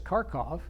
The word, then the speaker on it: Kharkiv: So up here, Kharkiv, which I learned as Kharkov, was under pressure, plus the Russians advanced this way.